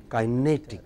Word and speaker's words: kinetic: Next, kinetic. When you have IC, then it takes immediately before. So, what is it? Kinetic.